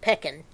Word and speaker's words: pecan: Hey, I heard it one time on a cruise ship down in the Caribbean, and these ladies were from England, and they pronounced it pecan.